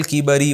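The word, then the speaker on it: الكِبَر: किया अता किया अलल किबरी बुढ़ापे में ये बार-बार मैं बता चुका हूं किब्र कहते हैं तकब्बुर को किबर कहते हैं उम्र ज्यादा होने को जिस अल्लाह ने मुझे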